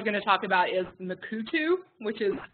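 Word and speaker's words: Mukurtu: one I was going to talk about is makuu tube which is pronounced makuu tube but spelled in UK u RT u um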